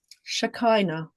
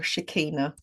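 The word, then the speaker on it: Shekinah: So, the the focal point for me for the divine feminine is Shakina or Shikina depending on your pronunciation. I tend to say Shikina and she is like at the very top if you like.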